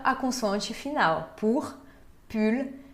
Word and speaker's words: pull: Tem também pull. Pull, blusa de frio. Pull. Sim se pronuncia o L final.